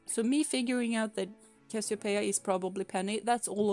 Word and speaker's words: Cassiopeia: That's how Cassiopeia is pronounced.